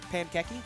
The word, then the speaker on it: Pankeki: Pankeki? Yeah, that's how you pronounce it. Pankeki. Like pancake and then keki. Like I don't know what keki's supposed to be, but.